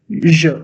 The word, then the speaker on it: je: Je, tu, il, elle. Okay. Then we have on, nous, vous, il, and elle. Je. The Hindi pronunciation, it would be je, not je. It's je, which means I.